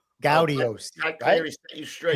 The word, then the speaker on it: Gaudiosi: Not Gaudiosi, right, Kenny? Not Gaudiosi. No. As I got scolded by Pat Cleary, Gaudiosi.